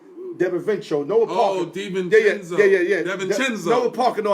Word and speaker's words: DiVincenzo: That young guy that I never could pronounce his name, Devin Fincho, whatever his name is. Oh, yeah. Another guy that Delaware. No, not Delanueva. Devin Vincenzo. Noah Parker. Oh, DiVincenzo.